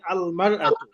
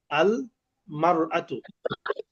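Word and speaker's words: المرأة: ইমরাআতুন শব্দের শুরুতে আলিফ লাম এলে তখন উচ্চারণ হয় আল মারআতু। আল মারআতু।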